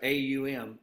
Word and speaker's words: Om: the original sound vibration it's pronounced a-u-m um like that so A lot of